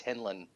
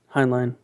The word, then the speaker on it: Heinlein: you say his name I always thought it's henlan Heinlein yeah okay um Rob Robert Heinlein Robert did